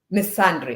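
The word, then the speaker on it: misandry: called me let me make sure I I pronounce the word Miss Andre uh called me missandry okay so that's how you say miss someone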